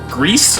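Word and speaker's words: Gris: so first off uh the game is pronounced Greece nomada is a Spanish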